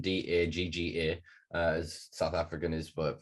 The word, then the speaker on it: dagga: So there's for sure a culture that just, I mean, Daggers is known, that's poor pronunciation, Dagga, as South African is,